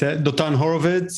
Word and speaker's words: Dotan Horovits: Yeah, it's Dotan Horovits.